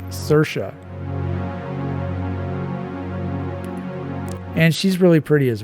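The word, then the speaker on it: Saoirse: talk show and they asked her how to pronounce her name and she said cersa cersa Ronin so apparently s a o i RS e is pronounced cersa and she's really pretty as well oh yeah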